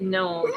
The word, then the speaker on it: gnome: see the word gnome, I think of this other YouTube creator that didn't know the right pronunciation of it, and Gnome. they would call it gnome.